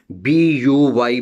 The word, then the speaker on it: buy: And again, buy, B-U-Y, buy, U is silent.